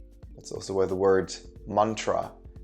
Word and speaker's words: mantra: also where the word mantra it's actually two syllables so two parts it's mon and tra that means mind vehicle